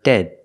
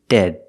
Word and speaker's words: dead: the second word is dead it's a stop D at the end of dead the opposite of alive